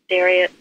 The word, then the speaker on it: Darius: How do you say Darius? It's Darius.